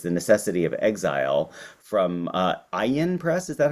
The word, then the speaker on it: Ayin: And then most recently, he has a collection of essays, The Necessity of Exile, from Ayin Press, is that how it's pronounced? Yes. Yeah, Ayin Press, in 2023, which has won a raft